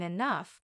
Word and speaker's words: enough: day I'll even understand why G can sound like f in enough the mysteries of English